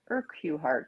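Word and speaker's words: Urquhart: I don't know how you pronounce his last name. It's Allan. It looks like Hart. It's U R Q. H A R T. Urart, something like that.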